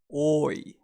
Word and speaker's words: 多い: The pronunciation for many is oi. Prolonged O, oi.